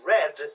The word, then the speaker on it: read: O verbo read, o verbo ler, no passado, ele é read, escreve-se da mesma forma, mas a pronúncia é diferente. Red igual a cor.